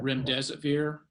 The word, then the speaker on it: remdesivir: Is there any update regarding the individual who is administered, and I'm not going to pronounce this correctly in advance, Remedesivir? I'll leave that to Dr. Milton. Yeah, remdesivir.